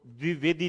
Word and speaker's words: द्विवेदी: द्विवेदी ये बोलते हो ये इतना गलत उच्चारण कर पाते हैं जबकि ये द्विवेदी है जैसे बोलते हैं आचार्य हजारी प्रसाद द्विवेदी ना कि द्विवेदी द्विवेदी तो यह द्विवेदी